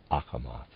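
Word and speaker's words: Achamoth: a quest for the spiritual readers aside ahmath is spelled a c h a m o t h akamath and of readers aside now this world imagination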